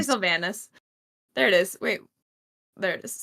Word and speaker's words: Sylvanus: I'm gonna say Sylvanus.